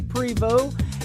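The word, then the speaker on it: Prevost: a great Canadian artist his name is Cody Prevot you can follow him on twitter at cody Prevot music that is t re vos T and the T is silent mr. Cody Prevot and he is from Canada and you can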